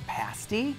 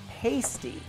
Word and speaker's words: pasty: pronounce it correctly ly it rhymes with the word nasty pasty once you taste